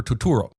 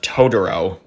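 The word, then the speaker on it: Totoro: bus from my neighbor Tuturo. Why are you pronouncing his name like that? It's pronounced Todoro.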